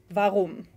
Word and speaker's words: warum: And then the letter W in German is V, as in warum.